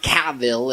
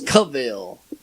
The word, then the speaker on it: Cavill: It's not Cavill, it's Cavill.